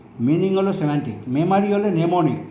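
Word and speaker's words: mnemonic: মেমারি হলে নেমোনিক, এমটা উচ্চারণ হবে না।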